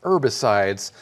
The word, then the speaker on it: herbicides: days that's right herbicides now as americans we do say herbicides however if you're talking to someone from the uk you might hear the h sound at the beginning of that word herbicide right